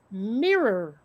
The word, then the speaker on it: mirror: think they're yeah but it's it's mirror i mean granted that that first r is kind of muted for me but it's still a thing you know you've got the two vowels separated by consonants it's two syllables yeah yeah yeah and